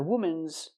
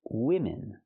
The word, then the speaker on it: women: Not womans. It's women. Use the short I sound for both syllables.